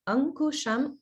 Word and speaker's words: Ankusham: Here, just be a little bit careful about the pronunciation, like Ankusham ku. It's a K sound, ku. It sounded a little bit like gu.